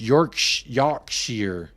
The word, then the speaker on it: Yorkshire: your noodle is canoodled I'm in Yorkshire pronounced York Yar okay so you are